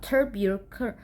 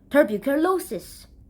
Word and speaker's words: tuberculosis: the school because of turbircle tuberculosis that's how you pronounce it eventually she was able